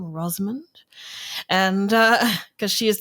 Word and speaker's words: Rosamund: And there were these new narrations or this one anyway, by Rosand Pike. That's how you say her name, Rosmond.